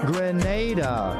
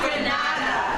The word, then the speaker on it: Grenada: Grenada. Say it right. Grenada. That's right. Grenada. There we go. Say it right. It's Grenada. It's not Granada. It's Grenada.